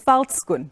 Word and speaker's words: Veldskoen: Yeah, a lot has certainly been done, but I'll help you out with the pronunciation. It's Veldskoen, but we'll get there on another day, perhaps if today doesn't work.